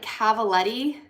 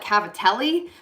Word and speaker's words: cavaletti: It is called like cavaletti, but I want to call it cavatelli, but that's pasta. So it's not cavatelli and it's not cavatappi because that's also pasta. I think it's cavaletti.